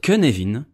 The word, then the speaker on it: Cynefin: leaders le canadien oui il se prononce que nevin parce qu'il a été inventé par des flots donne qui est gallois et que les gallois ne prononce à rien comme tout le monde ce modèle cherche à